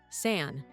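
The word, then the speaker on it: 伞: One of the most enduring is linked to the Chinese word for umbrella, san, which sounds like the word for separation.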